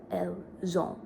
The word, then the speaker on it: elles ont: But because il, elle, pluriel, the pronouns end with S when you're pronouncing it. Actually, it's ils ont, elles ont. So you have that liaison entre S et E.